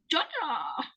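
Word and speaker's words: Jar Jar: Ja, but the one in the Star Wars is Jaw Jar with the R in between. It's still Ja. I don't think that R is pronounced.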